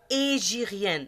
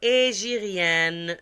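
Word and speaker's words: hégirien: نوت ميم، رمضان اي لو 9ييم موا دو لاني ايجيريان. ما تقولوش هي، قولوش الهجري. الهاء هذا حرف عربي في الفرنسيه لا ينطق، اش لا تنطق. ما رمضان اي لو 9ييم موا دو لاني ايجيريان، سا سينيفي كوا؟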